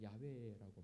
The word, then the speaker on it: 야훼: 원어적 발음은 야훼라고 말합니다.